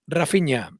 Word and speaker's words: Raphinha: o rapiña o rafinha después de consultarlo con gente que habla portugués que es de brasil se pronuncia la línea y lo vamos a llamar rafinha en adelante para que